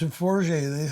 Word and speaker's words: Forget: It's Forgy. They say, how do you spell it?